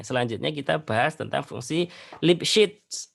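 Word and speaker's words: Lipschitz: kita bahas tentang fungsi lipset lipset bacanya lips gitu ya jika diberikan suatu fungsi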